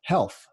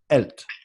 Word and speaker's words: health: And of course, as you know, the letter H causes Francophones major headaches in English, and it causes Anglophones major headaches in French, because we pronounce it differently. And he kept saying, "elt, elt." Now, I knew what he meant. He meant health. But I stopped him.